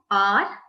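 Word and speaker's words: hour: The next one, R. We saw this earlier also. R, the sound is of O-U-R, R. The sound of O comes here because H is silent, right?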